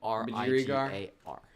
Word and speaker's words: budgerigar: Can you pronounce that word? Budger. Budgerigar. That's Budgerigar.